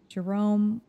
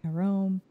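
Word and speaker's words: Jérôme: Jerome, well, that's not how you say it in French. It's like Jerome.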